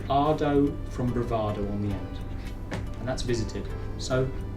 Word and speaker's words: he: have in spanish is e spelt h e but you don't pronounce the h in spanish is silent so i